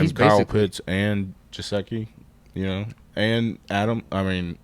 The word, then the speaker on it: Gesicki: Jasecki or something like that. Mike Gesicki.